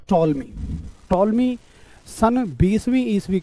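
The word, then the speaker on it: Ptolemy: तो ये टॉलमी साहब ने बताई। ठीक है, पी इसमें साइलेंट है।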